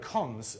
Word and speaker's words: cons: good question um and i pronounce this colon cons rather than colon because that's that's uh from for long ago historical reasons in list days yes for your third